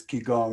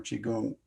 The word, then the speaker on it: qigong: jesus i was involved in qigong it's um or qigong some pronounce it generally if you get into chinese martial arts there'll be a mystical side to it yeah and that's part of it is ki gong or chigung and it'll i remember